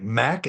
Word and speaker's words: Mack: At first, I thought, well, they don't want a name like Mac.